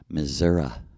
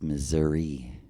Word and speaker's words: Missouri: Yuri right you know they pronounce Missouri two different ways in Missouri genuinely the French side says mura the Irish English side says Missouri so what is that Missoura we are missouria we